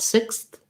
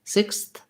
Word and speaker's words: sixth: teeth for the th you don't have to go super far out sixth sixth you can cheat a little bit and kind of have a little bit closer to against the teeth t sound you don't want sixth with a strong t but you don't need a long either sixth sixth so just